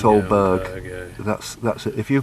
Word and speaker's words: Aldeburgh: This is ALDEBURGH. It's Oldberg, isn't it? It's Oldberg.